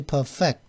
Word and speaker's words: perfect: 근데 뭔가를 완성시키다 할 때는 perfect라고, 이 동사적으로 쓰일 때는 perfect라고 발음을 해줍니다. 여기서. 그래서 perfect, more vigorously perfect the nuclear war deterrence of the country, 이렇게 발음해 줘야 된다.